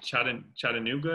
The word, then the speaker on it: Chattanooga: tech gamers i can never say this name chattanooga is how you say it chattanooga yes i knew it was like a close